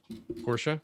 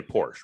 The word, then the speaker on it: Porsche: a documentary for them i'm going to assume that the way you're saying it is the correct way to say it portia yes yeah yeah yeah everybody else a lot of people say porsche right yeah a lot